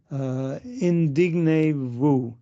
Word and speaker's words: indignez-vous: But does anybody know about indignez-vous? It's one French word I have so much trouble pronouncing.